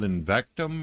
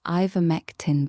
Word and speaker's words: ivermectin: I heard that there's something called Invectum or something. How's that pronounced, baby doll? You're the doctor. It's pronounced ivermectin, baby.